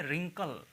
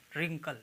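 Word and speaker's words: wrinkle: हो गई लिस्ट पढ़ेंगे व आर आई एन के एल ए ठीक है तो इसको क्या पढ़ेंगे rinkkal ringkal रिंकल का मतलब होता है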